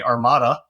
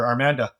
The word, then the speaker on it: Armanda: I started to start armanda intelligence thank you for pronouncing it correctly most people say Armada but it's actually named after my grandmother armanda and that was pretty